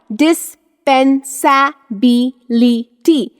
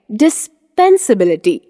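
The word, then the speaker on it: dispensability: ल आई टी ए डिस्पेंस बी ली टी लेकिन इसका सही उच्चारण है डिस्पेंसबिलिटी डिस्पेंसबिलिटी लेट मूव अहेड हम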